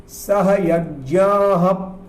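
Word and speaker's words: सहयज्ञाः: इसके उच्चारण के बारे में समझ लें। यहाँ पर विशेष वर्णों का प्रयोग है। इसमें हम पढ़ रहे हैं सह यज्ञाः, हप बोल रहे हैं यहाँ पर, हा के बाद में एक हल्का सा पा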